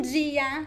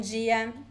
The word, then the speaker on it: dia: And pay attention to the way I pronounce the word dia. So this is the most common pronunciation in Brazil. However, there are other variations. In some places, people would say dia, bom dia. So it depends. The most common one is dia.